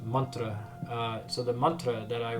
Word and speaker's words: mantra: So it's actually pronounced mantra.